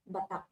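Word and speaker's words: Batac: Yeah, we got out of Badak and went to, how do you say it? Badak? Batak.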